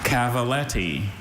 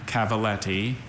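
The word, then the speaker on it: cavalletti: Cavaltti. Cavaltti is a series of timber jumps that are adjustable in height for schooling horses. Cavaltti. May I have all the information, please? Cavaltti has only that pronunciation. Cavalleti.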